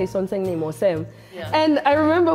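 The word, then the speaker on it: 선생님: And I remember when they used to be like sonsaenim, and I'd be like, oh, I thought it was this one teacher's name was sonsaenim. So I'd be like, oh, it's three syllables.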